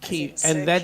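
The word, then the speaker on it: Quay: tour out of the key he thinks that's how you spell it pronounced like key key and that is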